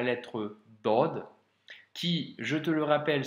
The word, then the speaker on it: ض: vu ensemble à l'être dodd qui je te le rappelle se prononce avec emphase donc c'est une grosse lettre comme la lettre soldes ou la lettre tort par exemple à ne